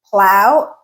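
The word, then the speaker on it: plough: In either case, they it is pronounced as ow plow.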